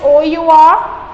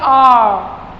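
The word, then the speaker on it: hour: Or you say but the letter H is silent.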